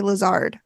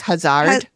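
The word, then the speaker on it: Hazzard: died and Dr Hazard why do I keep wanting to say Lazard I don't know because it's spelled h a z z a r d so you would think maybe it was Hazard yeah they all said Hazard Lazard was a Green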